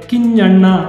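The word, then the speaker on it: ಕಿಞ್ಞಣ್ಣ: ಪಡೆದಿದ್ದಾರೆ ಕೈಯಾರ ಕಿಂಜಣ್ಣರಯ್ಯವರು ಪಡೆದಿದ್ದಾರೆ ಕಿಂಜಣ್ಣ ಸರಿಯಾಗಿ ಉಚ್ಚಾರಣೆ ಮಾಡಬೇಕು ಇದು ಅನುನಾಸಿಕ ಪದ ನ ಅಂತ ಹೇಳುವಂತಹ ಪದ ನ ಅದರ ಕೆಳಗೆ ಇನ್ನೊಂದು ನ ಇದೆ ಕಿಂಣ್ಣ ಅಂದ್ರೆ ಚ ಛ ಜ್ಞ ಕಣ್ಣನ ಕನ್ನಡ ವರ್ಣಮಾಲೆಯಲ್ಲಿ ಚ ಜ್ಞ ಅಂತ ಹೇಳ್ತೀವಲ್ಲ ಆ ನ್ಯ ಇಲ್ಲಿ ಬಳಸಲ್ಪಟ್ಟಿದೆ ಕೈಯಾರ ಕಿಂಜಣ್ಣರೈ ಹಾಗೆಯೇ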